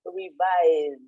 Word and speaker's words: revise: Here we have that sound IZ. So you pronounce it revise, okay? Although it's spelled with SE.